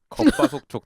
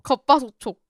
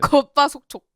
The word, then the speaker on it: 겉바속촉: 발음 씨. 겉바속촉 다시 해봐요. 겉바소촉. 맞는데요? 속초 이러는 것 같은데. 겉바속촉.